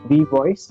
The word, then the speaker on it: WeVOIS: So anybody who is listening this conversation, Abhishek is the founder of V Voice. Is that how you pronounce it?